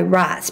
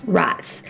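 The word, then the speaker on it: Raats: drinking a wine by rats because if you're going to I know it's a weird name it's R double a t s I'm pretty sure it's pronounced rice I've met all these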